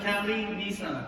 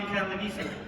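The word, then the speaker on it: Calinisan: It's hard to pronounce my name, so think of Cali Nissan. Just take out one S on the Nissan, okay? So my name is Cali Nissan.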